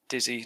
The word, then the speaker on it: dizzy: The word dizzy, you pronounce with an E instead of an I. I see. Dizzy, not D. D. Dizzy.